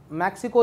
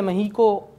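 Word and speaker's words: México: अच्छा, मैक्सिको या महीको दोनों प्रोनाउंसिएशन है, महीको स्पेनिश में कहते हैं और मैक्सिको हम नॉर्मल इंग्लिश में यूज़ कर रहे होते हैं।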